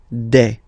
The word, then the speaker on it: des: All right, here s you pronounce it like e. Okay, un, une, des.